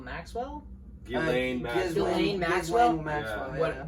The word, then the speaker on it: Ghislaine: heightened time of everything that's coming out with Glendewell Maxwell. Ghislaine Maxwell. Ghislaine Maxwell? Maxwell. What? Yeah, her name's really hard to pronounce.